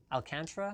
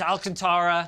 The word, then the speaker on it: Alcantara: Alcantara. Alcantra?